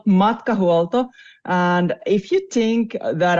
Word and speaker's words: Matkahuolto: the company name right how do you actually pronounce it it's called MTO and if you think that our name molto